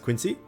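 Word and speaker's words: Qingce: village has glazed lilies believe it's pronounced quincy oh right pima remembers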